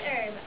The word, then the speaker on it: Herb: My name is Herb. I'm the gardener here. The H is silent, you know.